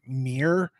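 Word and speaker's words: Ymir: Carl Alexander has built this service, and I always butcher it when I pronounce it. It's Y-M-I-R, Mir.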